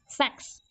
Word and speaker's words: SACS: That is the spelling is different, सेक्स नॉट SEX, उसको confuse मत करना और गलत मत लिख के आना, गलत लिखोगे और मार्क करेगा। SACS, सेक्स, ठीक है।